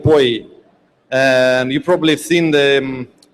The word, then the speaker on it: POI: Now we have a bit more advanced POI by Alexander Salisov and after him uh we have music cocktail by Maria Pantelli and Jin Song. Please come here. Hi. It's actually pronounced poi.